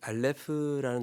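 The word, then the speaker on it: אָלֶף: 어,이 알파벳에 대해서 잠깐 설명을 하고 본문 6절 말씀으로 한번 들어가 보도록 하겠습니다.이 알레프라는 단어는 묵음이에요.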